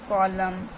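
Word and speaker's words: column: letter हो जाता है जैसे की ऑम कॉलम कंडेम डम हाइम तो इसमें क्या हमारा एम जो सॉरी एन जो था हमारा साइलेंट है एम के बाद एन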